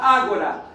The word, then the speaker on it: ágora: O que que era a ág, é como se escreve agora, mas se fala ágora.